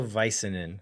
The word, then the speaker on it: Väisänen: I believe it's pronounced Leo Väisänen.